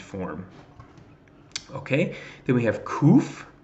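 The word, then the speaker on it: ק: okay then we have kouf roof and that of course makes the cue sound just the second okay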